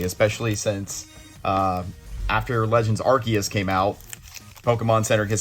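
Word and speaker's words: Arceus: of Pokemon in the Pokemon world that everybody pronounces differently especially since uh after Legends archus came out Pokemon Center has said no it's pronounced archus but everybody said arus for however long and I I ended up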